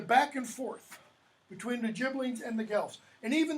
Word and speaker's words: Ghibellines: The Ghibellines, I'm going to pronounce the GH as a J, and the Guelphs, okay? And what happened was, just before Dante was born, the Ghibellines defeat the Guelphs, they